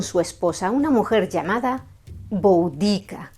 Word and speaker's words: Boudica: esposa, una mujer llamada Boudica, o según la pronunciación inglesa, Boudica.